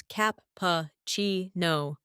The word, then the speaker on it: cappuccino: For espresso, it's S press O, and cappuccino is cap-pa-chi-no.